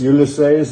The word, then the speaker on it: Ulysses: Ulysses, as they pronounce it here. Ulysses. Yeah, Ulysses. We won't quibble. Right? Okay.